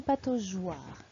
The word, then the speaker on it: pataugeoire: Si la lettre G est suivie d'un A ou d'un O, nous devons ajouter un E muet pour que la lettre G se prononce J.